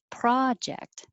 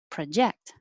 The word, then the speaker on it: project: And the same with number 13. The noun is project, and the verb, project.